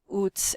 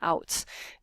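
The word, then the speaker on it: Outtz: AI, basically adverse impact, and Oots, and I used to say his name Outs. James Oots is at PSYOP. That's how people said his name.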